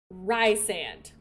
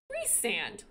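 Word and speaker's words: Rhysand: series calling this man Rand it wasn't until after all of that that I learned you pronounce his name Reese sand and I hate it rise sand sounds so much hotter Ry sand reand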